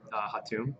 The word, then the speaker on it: Hatoun: Hatum. It's spelled Hatoun. Okay.